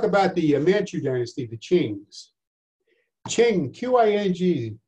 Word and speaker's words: Qing: All right, we're going to talk about the Manchu dynasty, the Qings. Qing, Q-I-N-G, pronounced C-H-I-N-G. To those of us in English.